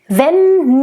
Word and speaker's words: wenn: Wenn nicht. And again, the word nicht. Nice, short, I. Nice, open, I. Wenn, and again, the W in the beginning is voiced.